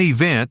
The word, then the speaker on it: event: In emit, the E matters. In event, the E is still there. Same with effect. Even though the first syllable is weak, flattening everything into event or effect works against you.